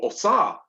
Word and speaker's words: Osiris: And the same with his dad, Osiris, yeah, or Osar in the Kemetic pronunciation.